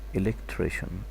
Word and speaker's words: electrician: Electrician, electrician, electrician, electrician, someone who works with electricity. You have to know the CI here, it's pronounced like sh.